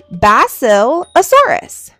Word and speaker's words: Basilosaurus: Basilosaurus.